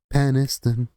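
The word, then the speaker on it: Penistone: It's pronounced peniston.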